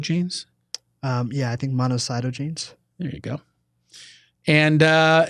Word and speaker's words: monocytogenes: this name monocycle genes um yeah I think monocytogenes there you go and uh and so not